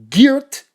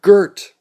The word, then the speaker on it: Geert: Okay, that's the only time I'm going to pronounce it, or try to pronounce it correctly, because in Los Angeles, when you spell your name G-E-E-R-T, we call you Gert.